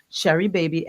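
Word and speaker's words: Sheri Baby: So you just go in and you just ask them for Sherry Baby. S H E R I B- A B Y by Sharon Gordon. And it's spelled the same way it sounds, Sharon Cordon.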